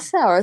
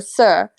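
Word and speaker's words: sœur: uh fair mary's mother sir s-o-e-u-r if you know how to spell it sour it's not sour sir oh contraire mon sour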